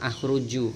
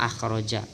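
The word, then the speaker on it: أخرج: Tulisannya sama dengan akhruju. Kalau akhruju saya keluar. Nah, salah, bacanya akhroja.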